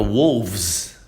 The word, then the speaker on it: wolves: Então, por exemplo, se eu for falar wolf, wolf, fica wolves, já muda, já fica um V, tá?